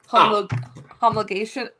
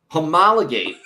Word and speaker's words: homologate: Homo homologate is how you pronounce it. I just had it said to me in my headphones.